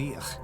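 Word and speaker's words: Íth: They came from Iberia, first led by a man named Each. Met with the three high kings. That's of how you Ireland, pronounce that name. members of the Tuatha Dé Danann. Why is ITH pronounced ich?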